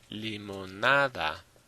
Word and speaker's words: limonada: Same thing with limonada. Limonada on the next to last.